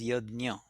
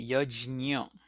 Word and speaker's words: yajna: In classical Sanskrit, they spell it as Y-A-J, yajna. That's how the pronunciation is. In Hindi, they will pronounce it as yagya, and in some other languages, they may also pronounce it as yagna.